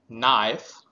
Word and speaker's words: knife: and i f e knife k m o t is not k and o w now so here we can find out the similarity that we are not pronouncing the letter K so we are not